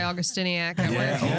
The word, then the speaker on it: Augustyniak: There's a reason I'm called Augustiniac. What? Augustiac. No, eagle eye is where I was getting excited about pronouncing. You're like, she said it right. I said my last name correct.